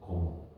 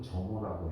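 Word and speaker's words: Germer: 그리고 나서 논문이 쓰여지고 몇 년 뒤에 데이비슨 거모 또는 정호라고 해. 그냥 그쪽 유럽 발음은 거모야. 근데 가끔가다 우리나라에 나온 책은 정호라고 나오는 책들도 있어.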